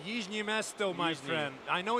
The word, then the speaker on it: Jižní Město: So, back again for the final five minutes of this one here at Jazini Mestro. It's Yimesto, my friend.